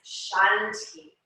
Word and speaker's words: Shanti: bringing one syllable to each inhale and one syllable to each exhale. So our mantra for this practice and for this meditation is Shanti.